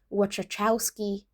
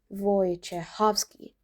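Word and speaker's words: Wojciechowski: You might try saying watchtowowski or something even more creative. Let's break it down. The Polish pronunciation is much closer to voychovski. Let's go piece by piece. The Polish W sounds like an English V. So we start off with voy.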